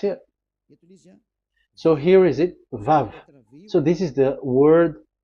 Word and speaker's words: Vav: So it's V as in Vogue. So it's really V. How to read Vogue? So the word, the shape Vav is really pronounced V, like Vogue. That is it, pronunciation. So here in this side, it's pronunciation. This is pronunciation. So according to the old Hebrew word today, those who, the owner of the word, I mean, so it's a V. So don't change it into W.